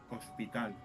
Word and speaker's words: hospital: In Spanish is hospital. The th it's mute. You know, hospital. Mm-hmm. No pronounce the h.